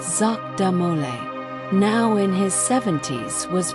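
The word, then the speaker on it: Jacques de Molay: Jacqu De Mole, pronounced Zach Damole, now in his 70s, was brought out.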